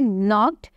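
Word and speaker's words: knocked: रही थी की जो हमारा सेकंड वर्ल्ड है नॉक्ड इसमें के जो है वो साइलेंट है और इसको हम प्रोनाउंस कैसे करेंगे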